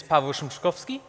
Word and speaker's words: Pawel Szymczykowski: JavaScript my name is Pavel Chekov ski and it's pronounced more or less like you see those emoji up there like papel shrimp chick